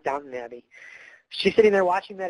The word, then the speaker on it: Downton Abbey: Sally's watching Downtown Abbey. Isn't that how you say it, Downtown Abbey? I'm pretty sure that's right. That's just a joke, everybody, I know it's Downton Abbey.